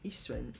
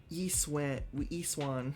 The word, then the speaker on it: Yixuan: The fact that I actually pronounce her name Yixuan and not, like, Yiswan.